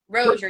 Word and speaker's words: Rozier: sure everybody knows it's how do you say your last name is it Rosier Roser Roser roer yes roer reads and wine roer reads